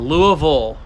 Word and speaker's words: Louisville: in Kentucky it's a Louisville in Kentucky there is no such thing as a bill it's all vole how'd everybody like that